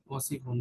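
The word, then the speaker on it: وسخ: Right, but সিনে টান হবে না, তুমি যে টান দিয়েছো টানটা হবে না, ওয়াসিফুন, ওয়াসি টান হবে না। ওয়াসিফুন, রাইট।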